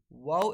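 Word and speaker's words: و: While wow is pronounced with incomplete meeting and rolling the lips. Pronounce it like this. Wow.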